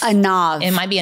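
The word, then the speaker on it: עָנָו: And that's a nav. A nav. It might be a nav because sometimes V's are pronounced as B's in Hebrew.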